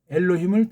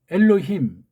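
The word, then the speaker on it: אלהים: 비레 이거 빼면 예레 엘로힘 이것도 그 다음에 힘 그런 감각이 없어요. 그러니까 미국에 많이 사는 사람은 엘로힘 그렇게 이제 발음하잖아요. 엘로힘 안에 엘로힘 우린 그게 돼요. 근데 엘로힘 혀가 꼬부라져요. 술 먹은 사람처럼.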